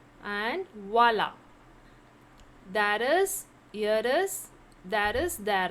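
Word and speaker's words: voilà: The next is voila. Voila. Voila. How to pronounce? Voila with an accent. So voila. Voila means there is, or there are.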